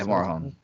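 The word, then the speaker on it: Morejón: Lucchesi and Morazian, or however you say his name. Morahone? Yeah, Morahone.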